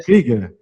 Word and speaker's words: Krüger: Krüger, está correto? Do alemão Krieger. Krieger, que é o tremado aqui, Krieger.